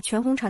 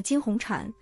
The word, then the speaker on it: 全红婵: 这位主播先是把全红婵的名字念成了金红婵，之后又把全红婵的名字念成了全金婵，确实让人无语。